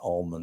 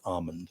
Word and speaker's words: almond: It's not pronounced almond. It's pronounced almond.